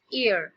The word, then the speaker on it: heir: नाउ ये जो word है HEIR, हम इसे H से प्रोनाउंस नहीं करेंगे, H इसमें साइलेंट है, सो इट्स ear.